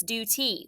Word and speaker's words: duty: to put a macron it's not due tai it's duty we're we're gonna say